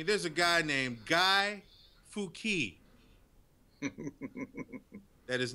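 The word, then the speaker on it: Fuck: And it's pronounced Fouquet.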